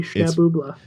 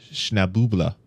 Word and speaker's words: Schnabubla: Is that, are you like mispronouncing that, or is it it's phonetically Schnabubla? Yeah, SHNABUBULA. Man, I really, really now want the official bonus stage music to be by Schnabubla.